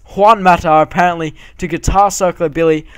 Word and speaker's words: Juan Mata: we do inquire from guan i've said it wrong again haven't i it's juan mata apparently to guitar circle